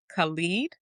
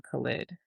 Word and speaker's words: Khalid: Some people may pronounce it Khaled, but we always called him Khalid.